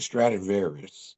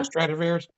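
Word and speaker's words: Stradivarius: I read about the Stratavarius. Is that how you say it? The Stratavarius. Yeah. Stratavarious.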